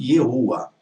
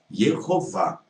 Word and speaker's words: Yehová: Se você transliterou, você não deveria ter pronunciado Yehoah, e sim Yehová.